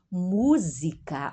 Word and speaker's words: música: Eu escuto música, uma S entre vogais, é como Z, a pronúncia da Z do inglês, né?